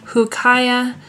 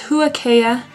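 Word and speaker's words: Huacaya: to pronounce it, because I thought it was Hukaya, and she thought it was Huakea, and when I looked it up online, it said that the beginning sound is a woo, Wukea, Wukea.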